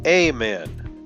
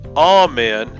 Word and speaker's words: amen: E to I so words such as all men which came from Hebrew by way of Latin saw its long a changed from all men too amen but everyone in other countries including in a lot of music still used all men so it didn't go